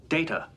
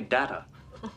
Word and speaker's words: Data: It is pronounced Data. Oh? You called me Data.